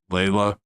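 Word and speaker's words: Laila: And one of them was, I think it's pronounced Layla.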